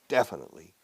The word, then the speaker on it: definitely: He definitely, sí, sin lugar a dudas, definitely, primero, stress the first syllable, definitely.